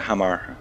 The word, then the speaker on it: Hamar: With me, Sas, recent addition to Quantic Gaming, Sas Kim Hamar. Did I How do you pronounce that? Yeah, Hamar, like I said.